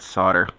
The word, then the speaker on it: solder: start a war of how you printout solder apparently the oddities pronounced the l they see solder so I'm getting the